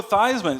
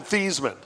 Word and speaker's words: Theismann: I think I called him Theismann because that's his real name. Oh, get over He it. changed it to rhyme with Heisman.